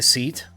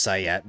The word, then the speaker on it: SEAT: Take a seat. Take a seat, please. Yes, I know it's pronounced sat, but I seat sounds cooler.